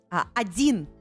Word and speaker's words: один: Один is number 1.